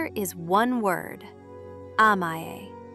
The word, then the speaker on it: amae: Amae. Pronounced ah-mah-eh.